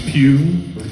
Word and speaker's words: Pugh: Last name is Pugh. I'll spell it out for y'all here.